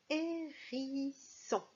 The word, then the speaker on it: hérisson: Dans la première syllabe, il y a une lettre muette au début, c'est le H.